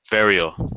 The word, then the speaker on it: Verial: How do you say your last name? Verial. Verial. Or Verial. Varial if you're Spanish.